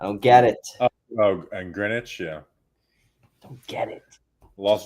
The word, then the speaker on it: Greenwich: because I think it's it's Greenwich. The W is silent for some For some reason, we still do these stupid silent letters. I don't get it. I don't get it. Oh, and Greenwich.